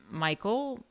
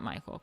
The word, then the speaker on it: Michel: Many 18th century artists, including Claude Michel. It's not Michael. Claude Michel, called Clodion, 1738 to 1814, specialized in small sculptures representing sensuous Rococo fantasies.